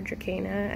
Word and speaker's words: Dracaena: Dracaena. I know there's some controversy over Dracaena or Dracaena. I actually found out that I think it might be pronounced like a K.